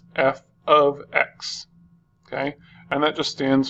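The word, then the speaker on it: f(x): parentheses X okay and this is pronounced as f of X okay and that just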